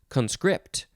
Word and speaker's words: conscript: conscript is actually pronounced conscript second syllable is emphasized this is a transitive verb from 1813.